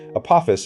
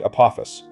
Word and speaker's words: Apophis: The mythological creature takes the accent on the first syllable, the asteroid on the second.